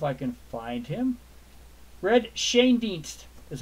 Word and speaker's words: Schoendienst: Red Schoendienst is how you pronounce it. Schoendienst is how you pronounce it, not Shane Dienst, Al. It's Shane is pronounced. The head is on the Shane.